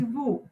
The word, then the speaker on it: vous: It is again not vous, okay? It is vous. Vous. Je, tu, Excuse me, teacher. and je, tu, il, elle, nous, vous.